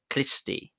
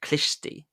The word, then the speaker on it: Khlysty: But instead of finding God, he found a dodgy religious sect called the Klishti. The Klishti. That's spelled Khlysty. The Klishti.